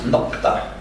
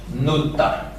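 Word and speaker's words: نقطة: Nokta in Arabic, with a qa, which is very difficult to pronounce for non-Arab speakers, is often eluded it's an illusion which happens, such as we have it in Lebanon or in Egypt, and it's pronounced finally Nutta.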